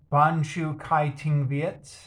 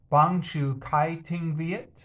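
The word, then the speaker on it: bảng chữ cái tiếng Việt: today uh so yeah banshu kai ting viet uh it means vietnamese alphabet except i'm pronouncing it wrong it should be something like uh bang chu kai ting viet it's rather slow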